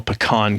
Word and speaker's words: pecan: national pecan cookie day pecan or pecan well i think if you're in the west that's pecan how you say it down there so dolly parton will say we'll say it is pecan because a pecan is something you pee in okay but i talked